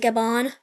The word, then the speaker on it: Gabon: The Yellow Team is also going to try and get a bunch of territory, specifically in Gabon. Gabon. Oh, just pronounce it Gabon. Yeah, like that.